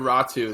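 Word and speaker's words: Räty: Do you guys know how to pronounce his last name? Yeah, I think we've been going with Ratu. That seems to be the consensus. I think Ratu is a safe bet.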